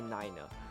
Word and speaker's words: niner: But for 3, we say tree, and for 9, we say niner. That simple.